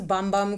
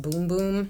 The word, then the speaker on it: Bum Bum: also got to this I thought it was bum bum cream but the boxes is supposed to be pronounced boom-boom so I was like okay well I like